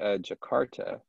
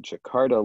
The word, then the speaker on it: Jakarta: Oh, I would just say Jakarta, because it's a city that still exists, and we have a pronunciation for it in English, right?